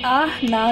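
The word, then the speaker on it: Ahnah: This symbol is आह ना ना, AH NAH NAH, आह ना। जब आप इसको प्रोनाउंस करेंगे तो आहना सिंबल है।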